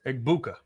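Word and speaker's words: Egbuka: Now, now, how do you pronounce his name? Eggbuka.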